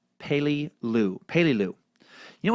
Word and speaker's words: Peleliu: like Bello and third Peleliu is pronounced like pay Li Lu pay Li Lu you